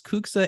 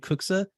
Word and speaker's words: CUCSA: deeply into this is I've heard it pronounced as kuksa and kuksa this is a very contentious question as it relates to the delegation either or it's fine but kuksa stands